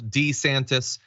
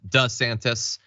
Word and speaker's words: DeSantis: a couple years ago he started changing how he pronounced his last name so that is true you can see it in video he used to call himself D santis now he calls himself does santis why exactly is he